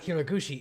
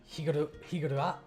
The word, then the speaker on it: Higurashi: It's not Hiraguchi, it's... what was it? Higurashi?